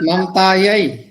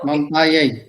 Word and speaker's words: ममतायै: और हमने देखा था ममतायै ममतायै यही, देखो ममतायै उच्चारण में ध्यान देना है। यही एक तो होता है ए, ममता ये नहीं, ममता यही यही।